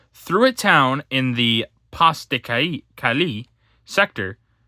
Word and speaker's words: Pas de Calais: a town in the Pas de Calais sector, Pas de Calais, my bad, that's how it's pronounced, piled high the rubble and debris from constant shelling and bombing.